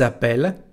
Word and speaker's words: appellent: Y otra vez con los dos L, ils appellent, elles appellent. Así que las dos L cambian el sonido de la raíz del verbo.